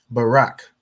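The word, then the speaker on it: ברך: Barak. Perfect. So you have Ba, Ra, and Ka. The Ba is pronounced individually. The Ra and the Ka join to make Rak.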